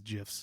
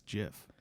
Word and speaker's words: GIF: implicitly about gifs versus gifs it's totally gifs graphic interchange format is totally gif but the creator says it's jif syrup controversy i guess